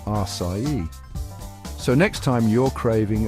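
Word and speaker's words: açaí: Now, this one's a real doozy because it looks like it should be pronounced one way, but it's totally different. I'm talking about the folks who say acai or acai. Bless their hearts, they're trying. But the truth is, it's pronounced acai.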